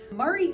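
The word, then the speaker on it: Maury: I find to be an interesting little fact Murray County has the name Murray it looks like Mari like Mari poic but it is pronounced Murray as tennesseeans typically do you'll find and we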